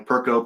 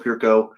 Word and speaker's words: Perko: Lucas again, I told you it's pronounced a little differently, Perko Perko.